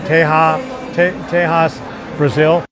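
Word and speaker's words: Texas de Brazil: I thought it was on the third floor, but that te it's it's it's it's spelled Texas day Brazil, but it's pronounced tea teas Brazil is right over there.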